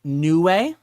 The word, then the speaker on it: Niue: So these are, I believe it's pronounced Niue.